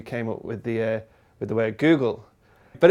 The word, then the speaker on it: googol: Today we've got a Google. A Google? A Google. As in the website? Kind of, not spelt the same. It's spelt Googol.